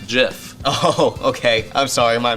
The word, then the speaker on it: GIF: a dick about it it's pronounced with a hard g i have no idea